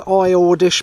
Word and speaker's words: High Ordish: delta 940 feet above sea level and it's pronounced i ordish but it's spelt high ordish h i g